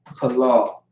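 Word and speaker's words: פלל: Palal. Palal is how you say the word palal, which means pray in Hebrew.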